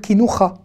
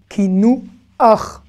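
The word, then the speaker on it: קינוח: Je ne vais pas dire kinoucha, kinouach. À chaque fois qu'on a un chet avec ce a à la fin, le chet ne se prononce pas. Ça ne va pas se prononcer ra, mais ach. La voyelle va être avant la consonne. Ach, et pas ra.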